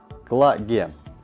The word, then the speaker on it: Clage: фишках и всем остальном очень часто задают вопрос о правильности произношения марки клеить флаги как же все-таки она называется правильно названием будет лаги и вот почему в